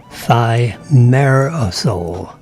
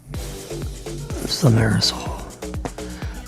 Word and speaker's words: thimerosal: Thimerosal. That's how that's pronounced. Thimerosal. Thimerosal.